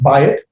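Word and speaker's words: בית: house that's the uh notice right there you have uh the diphthong buy it it's not dual it's just a diphthong so it's pronounced by it and it means a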